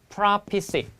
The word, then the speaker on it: prophecy: 여러분, 근데 얘는 발음이 prophecy.